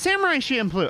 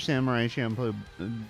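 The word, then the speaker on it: Samurai Champloo: I can't I can't say it the way you're supposed to pronounce it. Samurai Shampoo. It's Samurai Shamploo. All right. I had people in my comments about Samurai Shampoo bitching at me about the pronunciation.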